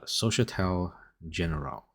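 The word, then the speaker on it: Société Générale: Honestly, I just made this video so I can say the name because I figured out how to pronounce it. It's Societal Generale.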